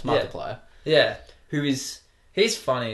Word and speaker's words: Markiplier: It just never occurred to me that you have to pronounce that. Yeah, it's Markiplier.